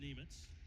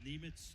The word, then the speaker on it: Nemec: Now that's the pronunciation that we got from when he was just back from the World Juniors. It looks like Nemec, isn't that? Yeah. He said, you call me Nemitz, Nemec.